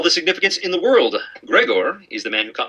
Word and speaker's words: Grigor: he was great sorry apparently in Greece eyes sound like ease so Grigor is actually pronounced Gregor did you know Niobe